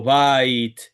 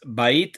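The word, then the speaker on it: בַּיִת: Este es otro de los moldes que adelanta el acento cuando las últimas tres letras tengo este patrónim, como shamaim que es esta palabra, como maim, como baite. Adelante al acento. Esta palabra no es shamaim, cielo. La palabra agua no es maim, es maim. La palabra casa no es bait, es bait.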